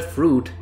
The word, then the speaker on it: fruit: at the word fruit in the word fruit the I is not pronounced no one really says fruit and that's the same